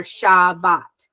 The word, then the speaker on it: Shabbat: we're when we're um English speakers and we say inside we're saying inside we're not saying in in is iniside we're not saying iniside right we're saying in side and this is the same thing we're saying tabat or shabat does that make sense